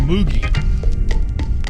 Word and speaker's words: Moog: Why can't I call it moogie? Because it's pronounced Moog.